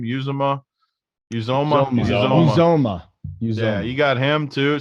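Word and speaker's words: Uzomah: Uzoma.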